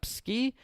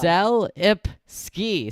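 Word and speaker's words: Selipsky: yeah so uh a WS CEO uh Adam sski uh thank you Sam CIP ski Sam put a little pronunciation thing in there thank you Sam is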